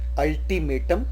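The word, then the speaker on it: ultimatum: शब्द का पहला अक्षर यू है पर उसका प्रोनाउंसिएशन अ है, जैसे कि अम्ब्रेला, अल्टीमेटम, अंडर कवर, अंड्यूलेटिंग।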